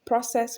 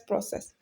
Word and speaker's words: process: So there are some words that whether they are noun or verb, they are going to be stressed on the first syllable. So we have interest, interest, counsel, counsel, process, process, comfort, comfort.